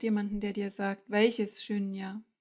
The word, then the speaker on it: śūnya: Shunya ist für sich genommen mehrdeutig. Man braucht jemanden, der dir sagt, welches Shunya. Es hat ein langes U, das oft zu Au wird.